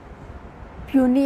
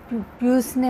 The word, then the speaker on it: puisne: mortgage असेही म्हटलं जात काही जण याच प्रोनन्सशन पसने मॉर्गेज किंवा पुसने मर्गेज असे करतात पण पनी मॉर्गेज अस म्हटलं जातं तर आपण पनी मॉर्गेज